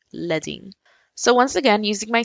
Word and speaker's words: leading: this is called the leing it's spelled the way that you would spell leading with l e a d but in topography that word is pronounced leing so once again using